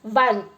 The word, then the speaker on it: one: before the word one because it is pronounced as if it begins with W now there are some